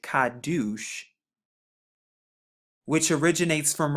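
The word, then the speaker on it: קדוש: it has four characters so we have the ku right here which makes the q sound the dollar the dollar to get the d sound the u and then the shan to get the s h and when we put it together we actually get kaddush which originates from right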